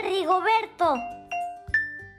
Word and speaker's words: Rigoberto: Se escribe con R. Con R de Rigoberto. Con esa L. ¿Sí la ven? Ahí está, pegada. Que cuando la escribes al principio de la palabra, suena como una rrr, rrr.